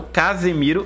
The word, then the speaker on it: Casemiro: porque tem diferença né uma é Casemiro e o outro é Casimiro assim você tomar um cuidado na hora de pronunciar você e ouvir também você consegue sentir a diferença uma eu Casemiro eu vou até Casimiro um andando ele chegou muito